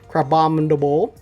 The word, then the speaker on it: Crabominable: But we got ourselves the Crabominable.